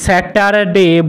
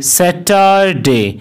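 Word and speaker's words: Saturday: এই ওয়ার্ডটিকেও কিন্তু আমরা সবাই স্যাটারডে বলে থাকি, কিন্তু এখানেও আর লেটারটির উচ্চারণ সাইলেন্ট থাকবে। সেই কারণে এই ওয়ার্ড অথবা দিনটিকে স্যাটারডে না বলে এই দিনটিকে বলা হবে, অথবা এই দিনটির সঠিক উচ্চারণ হবে স্যাটারডে। স্যাটারডে। অর্থাৎ এখানে আর অথবা রয়ের কোনো উচ্চারণ হবে না।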